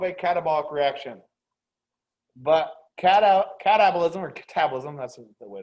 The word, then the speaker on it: catabolism: an example of a catabolic reaction but cata catabolism or catabolism that's the way to pronounce it there's only one of the two